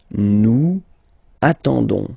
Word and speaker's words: attendons: nous, so ons, okay, you don't pronounce the s, so you get only this on sound, okay. Attendons, nous attendons, so we'll make the link between the two, la liaison.